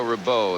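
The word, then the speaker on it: Rebeuh: Chair umpire Bruno Ribieu from Paris. Yeah, Bruno Ribeau is the way he would pronounce it.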